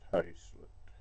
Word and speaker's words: haslet: and then hey salute I know it's felt Haslet but in Lincolnshire it's pronounced hayslet so that's that we're